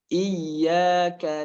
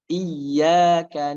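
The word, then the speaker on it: إياك: kaidahnya setiap huruf yang bertasdid itu harus sedikit ditekan. Karena untuk menjelaskan mana yang bertasdid, mana yang tidak bertasdid. Iyyaka na'budu, iyyaka na'budu.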